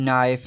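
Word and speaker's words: knife: अब मैंने कुछ वर्ड्स लिखे हैं जैसे कि नॉलेज, नाइफ, नॉक, नी। अब ये सारे जो हैं देखें, एन से पहले जो है के आ रहा है तो के क्या है, साइलेंट है।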